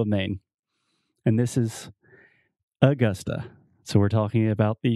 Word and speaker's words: Augusta: it's not augusta augusta yeah so you have two schwa the uh uh sound augusta augusta almost almost okay do